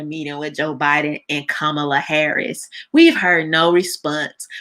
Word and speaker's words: Kamala: want y'all i mean i think it's respectful to say it how her parents named her with it indian pronunciation kamala it's not kamala okay it's kamala kamala harris we've heard